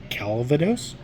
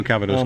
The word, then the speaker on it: Calvados: uh aged in uh I can't pronounce that calados Cask no Calvados Cask just quickly and confidently